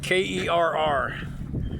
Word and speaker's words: Kerr: K E R R but it's pronounced Kerr up here.